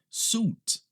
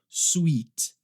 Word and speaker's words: suit: A próxima é esta aqui, suit, suit. Muita gente acaba pronunciando essa palavra como sweet, sweet, e não é certo. Sweet é outra coisa, é outra palavra.